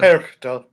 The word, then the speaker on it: Perchta: Frau Perchta? Perchta.